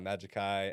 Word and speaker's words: Majixkai: spell that one out it's m-a-j-i-x-k-a-i it's my name uh Magic Kai um yeah it's best